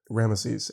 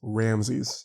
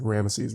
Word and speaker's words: Ramesses: That definitely is the way that they say it in the movie, and probably the way that they said it, you know, in Egypt, is Ramesses rather than like Ramses, which is very, very American sounding, I think.